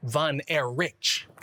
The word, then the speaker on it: Von Erich: It should actually be pronounced van air rich.